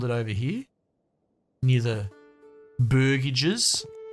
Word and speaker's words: burgage: their produce to the barage plots but burgage burgage like a burger I get it I've